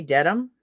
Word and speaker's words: Dedham: I think that's how you say Dedham, Mass? Yes. Yep. Okay, I pronounce it right.